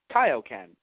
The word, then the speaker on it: Kaio-ken: the way Funimation you know we've had them pronounced Kaioken it would really throw people off if it